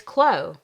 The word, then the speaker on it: Clow: I think I was saying Clow. It's Clow, like glow.